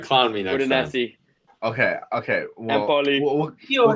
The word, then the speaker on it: Udinese: Udinese? Yeah, I think it's Udinese. Udinese. Yeah. My bad. All right, clown me next Udinese.